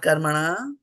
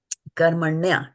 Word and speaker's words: कर्मण्य: So it is not karmana, right? It is not karmaṇe either. Similarly, this is not brahmanasya. It is brahmanasya. We have to be mindful of the vowels, how we pronounce it. So then, karmaṇya. Everybody say karmaṇya. Karmaṇya. Karmaṇya. Not karman, karmaṇya. Karmaṇya.